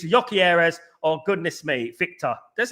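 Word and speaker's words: Gyökeres: It's not GYOKERES, it's GYOKERES. It's GYOKERES. So that's how we say it in England, bruv.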